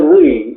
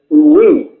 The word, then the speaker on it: oui: The when they say oui, like as in their yes, yeah? They say oui, yeah? It's spelled O-U-I, yeah? So they can't concentrate on the first part of the sound that we try and miss out. So it's we, yeah? You can't say we without saying first.